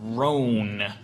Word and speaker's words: Roan: I'm just concerned for the people of Roan. It's pronounced Rowan, but that's cool.